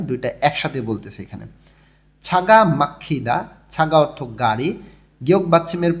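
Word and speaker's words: 막히다: বাড়ি ফেরার সময় দুইটা একসাথে বলতেছে এখানে ছাগা মাখিদা ছাগা অর্থ গাড়ি গিয়ক বাচ্চিমের পরে যখন হিউত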